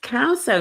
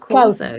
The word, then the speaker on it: Causo: And your surname is pronounced Causo, not Corso.